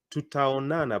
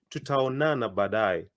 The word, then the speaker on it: tutaonana: I like splitting it into two. Tuta onana, but you say it quicker.